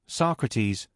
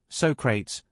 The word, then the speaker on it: Socrates: I had read Socrates, but I had never pronounced his name. So I said, "So crates," because that's the way I had always assumed it was pronounced. There was a moment silence before I heard someone whisper, "Socrates."